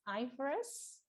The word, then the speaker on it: IFRS: in indonesia is following i f r s sometimes people just pronounce it as ivers but sometimes like people just pronounce it as ifrs irs is international financial